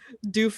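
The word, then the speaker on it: Duef: doof warrior have some respect say go ahead doof is related to cliff it's it's pronounced uh or rather it's spelled d-u-e-f and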